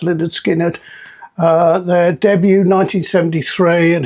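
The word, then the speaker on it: Lynyrd Skynyrd: Uh and pronounced Leonard Skinnard.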